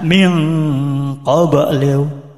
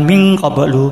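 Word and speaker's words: مِنْ قَبْلُ: Misalnya min qoblu min qoblu. Jadi mingnya bukan ming qoblu bukan ming qoblu bukan tapi juga harus bacaan nunnya e bacaan sengonya juga harus jelas minqoblu in kanat ing kanat.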